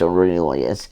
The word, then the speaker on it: Aurelius: His name is Aurelius, after Marcus Aurelius.